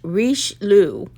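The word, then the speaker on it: Richelieu: this the other day it is it's French Rich Lu r-i-c-h-e-l-i -e-u 120th 12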